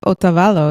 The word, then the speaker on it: Otavalo: Now, the town of Otavalo, is that how you say it?